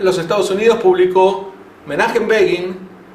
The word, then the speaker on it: Begin: Estados Unidos publicó Menachem Begin, y como Begin en inglés se podría pronunciar begin, empezar, para no confundir, puso entre paréntesis, se pronuncia como Fagin, y anota F-A-G-I-N.